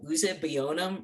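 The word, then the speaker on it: Uzuegbunam: pronounced it uh and he pronounced this one uh usabionum versus prachefsky and this case is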